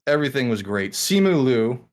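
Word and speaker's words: Simu Liu: like everything was great simulu or leo sumu is i believe the proper pronunciation of his name if not simu king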